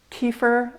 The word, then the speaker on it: kefir: Just really quick, let's talk about how you pronounce the name of this product. And you're probably going to hear me flipping between several different ways of saying it, because in America it's frequently called kefir or kefir, but we learned upon